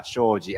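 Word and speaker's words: 商事: right correct sorry trading in japanese it's called shoji choji yeah shoji and then the reason why i i picked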